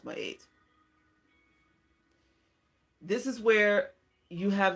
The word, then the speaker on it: Ma'at: Libra is my eight people will say my art but it's really supposed to be pronounced by eight this is where you